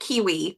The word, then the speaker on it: KWE: And yeah, my company is KWE Publishing, which stands for, my name, but I pronounce it Kiwi, but KWE Publishing.